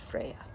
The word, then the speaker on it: Freya: And of course you're familiar with the goddess Freya, but I did differentiate it by keeping her name, the character's name, pronounced as Froya, and her namesake, the goddess Freya.